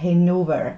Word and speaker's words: Hanover: Okay, es wird Hanover ausgesprochen, aber wir wissen ja alle, woher das kommt.